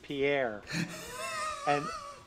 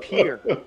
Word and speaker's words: Pierre: So in the outro, I'm screaming, Pierre, Pierre, we forgot Pierre. But it's pronounced Pierre.